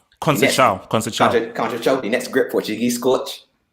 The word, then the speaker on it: Conceição: What Conchero or his pronounce his name? Conceição, the next great Portuguese coach.